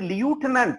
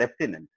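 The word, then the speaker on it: lieutenant: இது லியூட்டனன்ட் அப்படின்னு இருக்கு, ஆக்சுவலா லெப்டினன்ட். லெப்டினன்ட் கர்னல் அப்படின்னு சொல்லுவாங்க. ஆக்சுவலா இதான் ப்ரொனன்சியேஷன், லெப்டினன்ட் கர்னல்.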